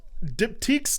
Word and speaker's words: Diptyque: I'm on Diptyques. I'm choosing to pronounce it like that. I'm pretty sure it's Diptyque. I think that might be how it is. It's like boutique but dipped.